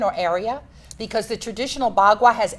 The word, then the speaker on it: bagua: Am I pronouncing it correctly? Yes, the bagua.